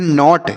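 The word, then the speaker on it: knot: है गांठ होता है के एन ओटी नॉट नॉट मतलब हो गया गांठ यहां पर के साइलेंट होता है इसे हम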